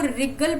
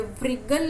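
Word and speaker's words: wriggle: और ऐसे ही इसको रिगल पढ़ेंगे, व्रिगल नहीं पढ़ेंगे।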